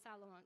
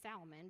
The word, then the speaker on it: Solomon: Sean fathered south alone Solomon you can say Salman but it doesn't not how you say it it's alone and